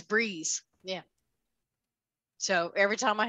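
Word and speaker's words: Breese: It's spelled B-R-E-E-S-E, but it's Breeze.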